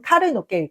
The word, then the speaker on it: 牡蠣: Huître, fleur de roche かき (牡蠣) kakiPersimmon 柿kaki Dans かき , qui signifie « huître », le qui vient avant se lit plus haut, et dans かき ,